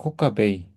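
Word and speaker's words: כוכבי: 코카베이 코카베이 코카베이 예 근데 어떤 사람들 그냥 코카베로 있기도 해요. 코카베음 코카베카베이 둘 다 됩니다. 저는 배울 때 이제 코카베로 애로 발음해라고 배웠는데 또 어떤 분들은 A로 발음하시더라고요.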